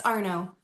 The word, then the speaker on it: Arno: Yeah, it's Arno. Arno. I figured that was probably it, but I was like, my name's kind of short like that, too, and it gets butchered every time. So, I'm not Mine gets butchered, too. It's okay. They want to add an LD or some T's and make it French.